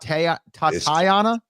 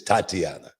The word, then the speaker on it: Tatiana: Tana Dumis got some is it is it tat is it tat tatana it's Tatiana Tatiana okay I said it wrong Tatiana Doom has got